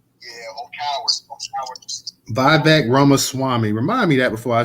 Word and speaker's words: Vivek Ramaswamy: Yeah, his name is Vivek Ramaswamy. Ramaswamy. Vivek Ramaswamy. Now, you can call him Salami if that helps. Just call him Vivek Salami. Yeah, or cowards. Or cowards. Vivek Ramaswamy.